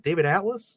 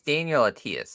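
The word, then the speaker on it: Daniel Attias: This was directed by is it David Atlas? David Attles? It's Daniel Atias, I believe is how it's pronounced. Oh, Dan Atias, gotcha. I don't know why I said David Atlas, but yeah, Dave Atias is how you say it.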